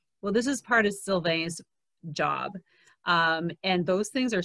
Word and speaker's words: Sylvain: And Sylvain is a little bit hard to pronounce in English. Often, and I'm glad because you did not call me Sylvian, because a lot of people around the world call me Sylvian. They just reverse the A and the I.